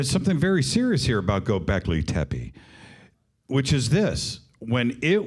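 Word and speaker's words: Göbekli Tepe: like you that's incredible the Turks say gobekli tepe when you're there the Turks say gobekli tepe they need to listen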